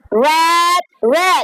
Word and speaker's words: read: Read red. You just change the how to pronounce it.